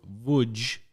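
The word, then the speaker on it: Łódź: off and went to woodge with it which is PR like written l o d z and it's pronounced wood this is why Polish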